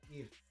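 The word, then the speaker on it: Kyiv: I've learned how to say the name correct because we all said Kiev, but it's Kiev.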